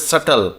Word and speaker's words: subtle: dainty fine subtle SBT l e that is pronounced as subtle so delegate Ro Sy fragile tender dainty fine